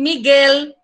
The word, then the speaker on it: Miguel: Para mim, Miguel, em espanhol, Miguel. Aí a pessoa, que? Miguel? Não consigo entender, porque para vocês é Miguel. Esse L final é com som, vocês pronunciam com som de U.